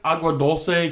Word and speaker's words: Agua Dulce: Even like Agua Dulce, Canyon Country.